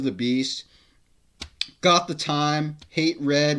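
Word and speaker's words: H8 Red: beast got the time hate red which is pronounced hatred um one man stands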